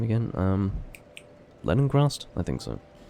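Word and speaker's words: Lenigrast: It's Leningrast, not Leningrast. I inserted an N that didn't exist into that name.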